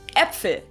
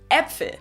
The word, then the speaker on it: Äpfel: Sometimes we pronounce it a little bit shorter though, so instead of like in Äpfel, Äpfel, which means apples in the plural, or Hände, which means hands, Hände. So it's either pronounced or Käfer, Äpfel, Käfer, Äpfel.